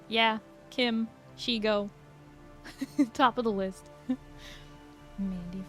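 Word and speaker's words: Shego: Nobody says Shago. Her name is Shigo.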